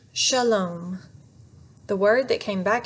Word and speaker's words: shalom: shook his head no not shilum shalom that's the long o sound like home say it clearly with